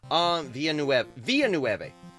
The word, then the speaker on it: Villeneuve: Which do you prefer, Lynch or I never can pronounce that. Villeneuve. Villeneuve.